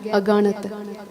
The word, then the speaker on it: aganat: Again, aganat. Don't mispronounce it because it's written that way for a reason.